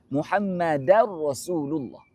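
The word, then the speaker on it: محمدًا رسول الله: Wa ashadu anna Muhammadar Rasulullah. Bukan Rasulullah. Rasulu rasul Muhammada Muhammadar rasul. Baris atas.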